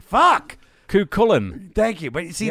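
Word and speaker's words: Cúchulainn: Because he wrote it phonetically for me. Kukulnet? Fuck! Kukulin.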